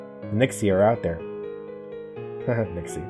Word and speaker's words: nixie: Nixie, they sound like pixies.